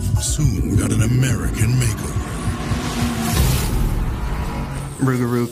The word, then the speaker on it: Rougarou: Rougarou kind of sounds almost like a butchered pronunciation of loup-garou.